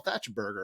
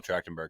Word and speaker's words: Trachtenberg: it until I saw this episode, is Michelle Thatcherberger, or however you say her name. Michelle Trachtenberg.